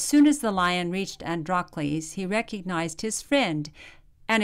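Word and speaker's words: Androcles: You can pronounce it several different ways. Androles. Andrales. But we'll just pronounce it Andrales.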